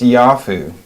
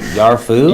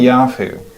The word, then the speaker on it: Yafu: Yeah, it's pronounced Yafu, actually. Yarfu? Yafu. Oh, Yeah. that was totally off.